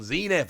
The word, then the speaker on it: Zenith: main set we had crown zeniff or crown zeni depending how you want to pronounce it so I thought you